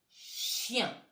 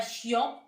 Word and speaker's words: chien: On ne dit pas chiant, hein. C'est pas comme ça que ça s'écrit si on voulait le dire. Mais le chien, c'est IEN. Le IEN fait très souvent le son yen à la fin d'un mot.